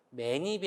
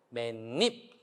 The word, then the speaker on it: 맨입: 니은이 들어가서 발음을 하고요 매니비 아니고 맨입 니은이 들어가서 발음을 들어간 다음에 마기리 아니고 니은이 들어간